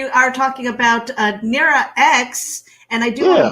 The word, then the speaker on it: X: it's just it's just an x it's it's pronounced x yeah i'm not like like like the iphone